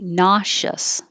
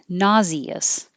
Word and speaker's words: nauseous: So this can be 51 can be nauseous or nauseous, and 52 can be nausea or nausea.